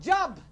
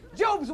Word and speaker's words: Job: sense of humor that is only his job pronounce job and not job job stood outside his Hut prayed to God